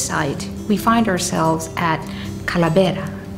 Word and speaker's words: Kalabera: we find ourselves at Cala betta which is the pronunciation in tomorrow but that particular word comes from the Spanish Khalid era which means sculpt now what is the